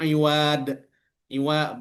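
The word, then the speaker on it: عوض: dan istri wajib membayar iwad. Iwad bukan pakai dal, pakai dad.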